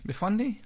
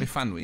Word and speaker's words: Myfanwy: I guess this is a further down the lifetime of our lovely Myfwany. Is that how you pronounce it? Myfanwy. Myfanwy, yeah, I got it almost right.